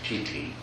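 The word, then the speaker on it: pīti: So this whole process is named piti in the Theravada system, and it's actually named piti, pronounced slightly differently in Sanskrit.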